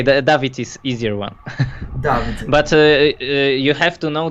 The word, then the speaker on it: Dawid: The pronounce is correct? David? Dawid.